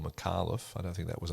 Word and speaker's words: Micallef: I've been pronouncing it Micallef, and any Maltese worth their salt will come up to me and say, no, it's Micallef.